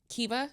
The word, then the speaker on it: Kiva: Okay, and so Kiva is how you say it?